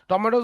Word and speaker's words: tomatoes: Tomatoes না, টমেটোস হচ্ছে, টমেটো হইলে আমরা বলে বলে অভ্যস্ত করছি, কিন্তু এটা ব্রিটিশ উচ্চারণ হচ্ছে টমাটোস, ওকে? তুমি সার্চ দিলেই পাবা। আর আর আমেরিকান হচ্ছে টমেটোস, মানে একটা ইয়া হবে, টমেটোস, ওকে?